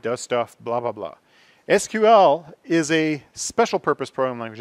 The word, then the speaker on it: SQL: English query and language thus the stupid pronunciation that a lot of people insist on saying calling it sequel instead of SQL IBM got sued there